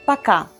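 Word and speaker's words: пока: setting we say okay please note that letter o is unstressed so we pronounce it as a paka so if you want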